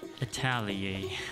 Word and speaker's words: atelier: checked google and um that is pronounced as italia it was the first